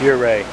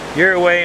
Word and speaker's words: Ouray: here right you're right you're right you're away my way you're right I know I'll never get it right I've said it wrong like 20 times you don't start something with an O and make it sound like a why you don't do that